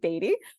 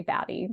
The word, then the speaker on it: BADIE: this is where I'm coming down on the side of Beatty. Some people want to say Batty because I guess they think it sounds cooler, which fine, but that's not how it's spelled.